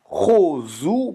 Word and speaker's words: כוזו: on va voir, ça veut dire qu'on va prononcer ça Chozu, Bemorsaz, Chozu.